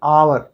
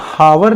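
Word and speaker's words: hour: Madan will finish his work in एन आवर। अब यहाँ हावर नहीं पढ़ेंगे, आवर, ठीक है, कि मदन जो है अपना काम 1 घंटे में पूरा कर लेगा।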